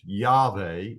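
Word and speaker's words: יהוה: of God is this right here it is pronounced yve it is a hiil uh form of the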